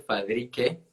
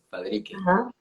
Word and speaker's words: Fadrique: historia buenísimo bueno primero mi nombre se dice fabrique fabrique que no todo el mundo lo pronuncia bien perfecto buenísimo que lo